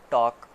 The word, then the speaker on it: talk: इसी तरह है टॉक, TALK, इसमें एल साइलेंट है।